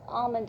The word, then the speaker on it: almond: For example, and always, generally in American English, the L is kept silent, so it is always all. It's always almanac, no, almanac or almighty, almond, it's almond actually, almost, arms.